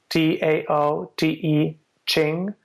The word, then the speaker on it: Tao Te Ching: The Tao Te Ching is spelled with a T, Taote, Ching, but it sounds we pronounce it with a D, Tao Te Ching, and